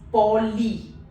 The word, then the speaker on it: poli: So I and Y both have the similar pronunciation, that is E in meat, a longer E. So the word over here becomes poly.